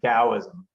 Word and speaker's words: Taoism: The T is a D technically, okay. So you would say Taoism.